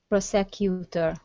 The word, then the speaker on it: prosecutor: this big word is prosecutor prosecutor uhuh prosecutor almost prosecutor the stress is at the beginning prosecutor prosecutor good job